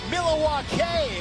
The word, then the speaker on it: Milwaukee: Here in Milwaukee, Wisconsin, actually is pronounced Mil-a-wah-kay, which is Algonquin for the good land.